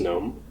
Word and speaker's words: GNOME: Yes, I did go out of my way to install GNOME on it, and yes, I pronounce it as GNOME.